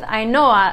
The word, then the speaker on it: Ainhoa: Now it's also tied with Ainhoa, another one when you see it written out in English, it might not be obvious how this is pronounced.